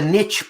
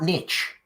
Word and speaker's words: niche: You Americans, yeah, you say like this is a niche product. Mm-hmm. It's not niche. It's niche. Actually, both pronunciations are acceptable. They're both good English.